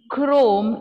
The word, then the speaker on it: chrome: pronounced as cho right ch in chapter is sure whereas ch in chrome is ker right so there are